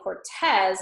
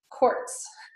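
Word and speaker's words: Cortés: was Hernando Cortes and you see the little accent mark over the E in Cortes so that's why I say Cortes and not courts or Cortes Cortez so that Cortes is how you would say his name okay so I've got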